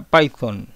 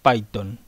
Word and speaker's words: Python: de origen anglosajón y como tiene una t y una H la forma correcta de pronunciarlo sería como Suena la consonante Z la forma correcta de mencionar el nombre de Este lenguaje Sería python bueno los que hablamos